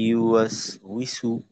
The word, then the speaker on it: يوسوس: যেমন ওয়াসো, ওয়াসো এমনটা না হয়ে ওয়াস, সোজা রাখতে হবে। ওয়াস, ইউয়া ইউয়া আল্লাযী ইউওয়াসউইসু, ওয়াসউইসু।